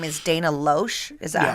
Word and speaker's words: Loesch: And we had, I think her name is Dana Loesch. Is that how you say it? Dana Loesch.